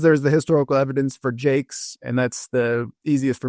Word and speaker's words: Jaques: But some who wrote her name spell it Jakes, so Jaques. Mm-hmm. Some Jacks, Jaques maybe. Some Jackaways, like a Jacques, like maybe more of a French pronunciation. And then Jacques, which could also be some more of that French pronunciation.